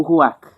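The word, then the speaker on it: רוח: Na verdade é uma palavra do hebraico roak. Rak bem difícil de se pronunciar, mas é tipo ruak.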